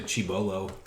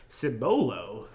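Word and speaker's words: Cibolo: small town outside san antonio how do you pronounce that anyways sybil i always want to say chibolo or oh i also do a night shift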